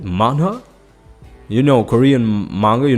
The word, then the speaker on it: manhwa: That's what you say. That's how you say it. Manhwa.